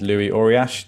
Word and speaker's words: Luis Ouriach: arriving i'll introduce myself my name is louis orriash an excellent pronunciation of that by the way in the introduction not many people can get it right so thank you for